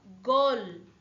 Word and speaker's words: গল: যদি ল থাকিলে হয় যদি কমাতে না থাকিলে হয় তেনে হলে ইয়ার উচ্চারণ হলো গল গল মিনস দি বা নেক